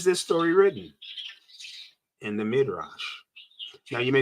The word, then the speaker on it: Midrash: And so it would be Midrash if the dot was over here. So this dot is telling you and letting you know to pronounce this last letter as sh, the sh sound.